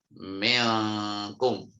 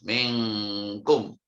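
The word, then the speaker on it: مِنكُم: Minkum ya, minkum. Jadi suara engnya itu sangat kuat, bacanya minkum.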